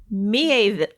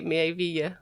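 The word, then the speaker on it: Miéville: I made my own I always say pronunciation Mieville, guide and but I I don't know don't. why. Because there's an accent grave on the E. Mieville.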